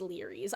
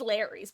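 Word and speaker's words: Lery's: Also, Grape, nothing infuriated me more about the casting of Frank Stone than discovering that Larry's is pronounced Larry's.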